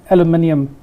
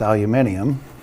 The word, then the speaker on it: aluminium: Aluminum or correctly pronounced aluminium. Well, us Yanks have messed that word up.